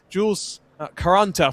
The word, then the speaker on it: Jules Caranta: left on the clock, I'll correct myself as well on the name pronunciation. Slightly wrong note was passed to me pre-race. It's Jules Caranta for Forbush Performance in that Duquesne D09.